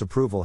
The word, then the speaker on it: approval: Phonetic Alphabet to pronounce approval have in mind that the size of the syllable indicates where the accent or stress is in this case the accent is in the second syllable corresponding to Prue low